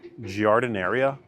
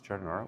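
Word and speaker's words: giardiniera: Jardineria. Jardinara. Jardinara. It's not Aria. It's Chardinara.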